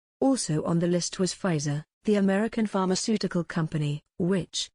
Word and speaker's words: Pfizer: on the list was pfizer the american pharmaceutical company which announced a successful trial of a kovid 19 vaccine in november the correct pronunciation is phi so as the p is silent wuhan the chinese city